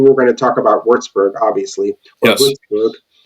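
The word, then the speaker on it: Würzburg: I like we were going to talk about Wartsburg obviously or and I know I got to say it right. I'll give you corrected. That's right. So Vzber is where I picked up skateboarding which is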